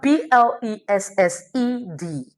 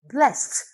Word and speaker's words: blessed: The word b l e s s e d is pronounced as blessed, not blessed.